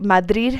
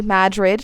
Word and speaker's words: Madrid: U.S., southern border state, there is a 50-50 chance I'll mispronounce the name of the small mountain mining town on the northern tip of the Turquoise Trail. Madrid, not Madrid.